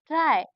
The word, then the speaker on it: try: हैं फिर से देखिए बाय अक्षर का साउंड बनाता है जब यह एक छोटे शब्द के अंत में आता है जिसमें कोई वोल नहीं होता जैसे क्राय क्राय मतलब आई का उच्चारण हो रहा है हो रहा है ना